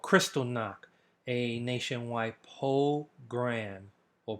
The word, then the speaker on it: pogrom: called Kristallnacht, a nationwide pogrom or pogrom. Okay, it's spelled a little bit different, and it's actually pronounced differently than program.